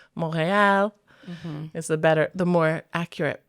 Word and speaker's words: Montreal: Montreal, said like an English speaker. Montreal, very English. My French accent is not the best, but it would sound more like Montreal.